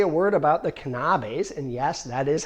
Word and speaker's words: Knabes: But before I turn it over to David, let me say a word about the Knabes, and yes, that is how you pronounce it.